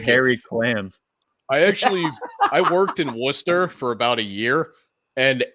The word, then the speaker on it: Worcester: Just It's Worcester. You guys are saying it wrong.